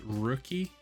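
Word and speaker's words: Röki: i think it's pronounced rookie rookie because i think like the the the uml over the o means makes like the i think it's like rookie rookie i don't know how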